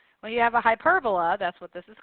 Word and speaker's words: hyperbola: is is a hyperbola it's kind of like hyper and then Bola but you don't say it like that H it's a hyperbola it opens horizontally yes